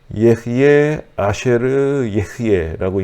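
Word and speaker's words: אהיה אשר אהיה: 그런데 이제 여기 그 히브리어를 잠깐 이제 인용을 해드렸는데 이게 예흐예 아쉐르 예흐예라고 읽는데 이것이 예흐예는 영어로 말하면 I am, 나는 있다 혹은 나는 이다 라고 할 수 있는 말이죠.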